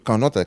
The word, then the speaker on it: Canotte: K-A-N-O-T-T-E N-O-T, en créole, comme on dit, canote. Oui, c'est les gens qui parlent créole. Canote, canote, c'est deux syllabes, canote, deux N, et Guadeloupe en français.